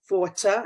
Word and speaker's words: Forta: this very subject, and her name is Forta. Am I pronouncing it right?